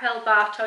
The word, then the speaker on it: El Barto: El Bartow is how it's pronounced.